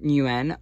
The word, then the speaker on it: Nguyen: It's Vietnamese, and I tried looking it up. But I think it's pronounced Nguyen.